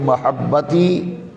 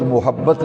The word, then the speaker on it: محبت: تو کہتے ہیں محبت، میم پہ پیش پڑھتے ہیں، یہ تلفظ غلط ہے، پروننسیشن غلط ہے۔ لفظ محبت نہیں ہے، میم پہ زبر ہے، محبت۔ یہ پنجابی اردو میں